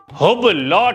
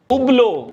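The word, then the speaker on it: Hublot: अबे इसमें H और T दोनों साइलेंट रहते हैं। हुबलॉट, उबलो, ह्यूब्लॉट, उबलो, ह्यूब्लॉट, उबलो, ह्यूब्लॉट।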